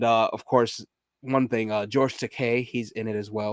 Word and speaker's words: Takei: And of course, one thing, George Takei, he's in it as well, or George Takei. I do believe that's how you say it, George Takei, because it's an E, not an A.